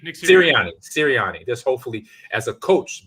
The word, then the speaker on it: Sirianni: I forgot how to say the head coach name. They was Scolani or something like that. I messed it up. Sirianni? Nick Sirianni.